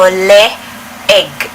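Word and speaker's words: leeg: as separate letters so a double e in filipino would be pronounced separately so egg as in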